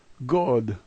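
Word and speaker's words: год: The first letter has a G sound. O is familiar to us, and the last letter is a D sound. This is god.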